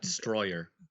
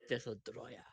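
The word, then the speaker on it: Destoroyah: You have to say it like that. It's not destroyer. Desodroya.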